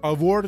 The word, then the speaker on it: Eivor: اما به طور کلی قضیه اینه که شما در نقش شخصیتی هستین به اسم آیور که اون یش خونده نه، حالا ما سخت برامون بگیم EIVOR هست که آور تلفظ میشه طبق اون چیزایی که گفتن.